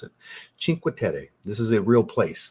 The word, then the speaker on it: Cinque Terre: Cinque Terre. Not Terry, Terre. Like, I'm trying to do the accent the best I can. I watched some YouTube videos on how to pronounce it. Cinque Terre.